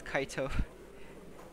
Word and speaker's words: Kite: Kaito. They don't say kite, it's Kaito.